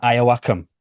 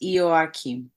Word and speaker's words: Ioakim: fresh chat big warm welcome to Miss Elena aakam I'm hoping I'm getting that right Missy almost